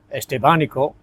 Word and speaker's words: Estevanico: The slave, Estevanico, or Estevanico, as it's often pronounced in North America, he became instrumental in the survival of the group.